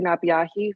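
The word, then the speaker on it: Napeahi: members of the subcommittee my name is nabiahi vice chairwoman of the toilet tribes i want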